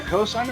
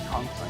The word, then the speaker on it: Consign: And followed by a cosign of memory. Con. I've been saying it wrong. Consign memory.